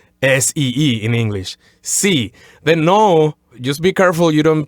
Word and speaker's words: no: In Spanish, just eliminate that U sound at the end. Just say no, as opposed to no. So just say no. So when an English speaker says the word no, when we're on the O part of the word, we tend to close our lips like no. But you're saying to sort of leave your lips open like no. Exactly. On one dry sound, no.